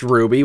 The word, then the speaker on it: RWBY: now I've never watched Ruby which is how you say this somehow so I have literally